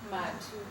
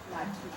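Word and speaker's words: Mathu: Matu. The H is silent. M-A-T-H-U. Matu.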